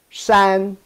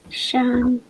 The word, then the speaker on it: 山: See, San. Shan. Good. The first tone, Shan.